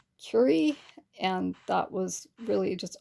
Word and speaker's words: Curie: And then there was a time I was talking about Madame Curie, and I said Cree instead of Curie, and that was really just honestly a mistake.